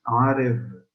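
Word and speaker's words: ערב: Como se escribe la palabra noche, Arev, nada más aquí la palabra se pronuncia Arev.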